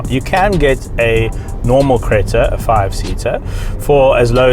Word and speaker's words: Creta: and I am driving the very latest Hyundai Creta, which is a terrible pronunciation of it. All the guys at the office have told me, no, pronounce it properly please. It's the Hyundai Creta.